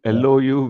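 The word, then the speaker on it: Louvre: For people who want to search, I think it's Lu, sir. Yeah. L. Yeah. Something like that. Yeah. Lu. L U V R E or something like that.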